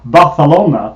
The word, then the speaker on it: Barcelona: uh the beautiful spain i should i will pronounce it correctly barcelona because my my daughter is learning spanish and